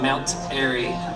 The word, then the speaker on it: Mount Airy: on the radio and told me how to pronounce the word melts airy and i've always said melt airy the same way since then i've never caught a